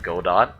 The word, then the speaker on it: Godot: apparently get out godot spell g-o-d-o-t it looks like godot but uh it's pronounced godot apparently it's supposed to